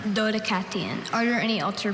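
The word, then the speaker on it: Dodecatheon: Dodacathon. Doddicathon. Are there any alter pronunciations? No, there are not. Okay, repeat the word. Dodacon. Dodacathon.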